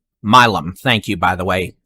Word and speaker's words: Milam: and look someone did tell me how to pronounce this town or um Milano by 9 15. going up Milam thank you by the way J.R Lopez or